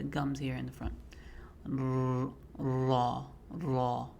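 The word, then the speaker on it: ر: One of the mistakes that I hear a lot of people make, even professional reciters, is they roll the R sound. roll the raw sound and say maybe not that exaggerated but there should be no rolling on the so would be making sure you smile because it's light also very tough one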